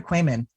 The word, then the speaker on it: Quammen: Is it Quammen or Quammen? It's Quammen. I always just say it rhymes with ramen.